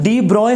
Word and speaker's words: de Broglie: तो जी बेटा अब हम पढ़ेंगे डी ब्रोगली हाइपोथेसिस। इसको हम डी ब्रॉय हाइपोथेसिस भी कहते हैं, ये साइंटिस्ट का नाम है, इसको प्रोनाउंस आप जिस मर्जी अंदाज में कर सकते हैं।